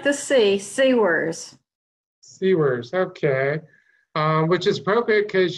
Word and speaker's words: Siewers: host beyond booyah I have with me sewers pronounce the last name sewers of sours serves no it's like the CC worse C words okay which is perfect because you've written books